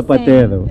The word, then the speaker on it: zapatero: And lastly, we have zapatero. Zapatero. What's it's a zapatero? In Spanish, but the shoemaker. It's with Z. We spell it with Z, but we pronounce it like with S.